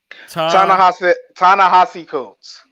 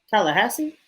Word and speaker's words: Ta-Nehisi Coates: Ta-Nehisi Coates. Ta-Nehisi Coates. Ta-Nehisi Coates. There we go. Yeah. Tallahassee?